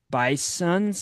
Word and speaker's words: Bisons: Don't confuse us with the North Dakota state where they are pronounced the bison. The Bison. most commonly accepted plural of bison is bison, but at Lipscomb we are bisons with an S.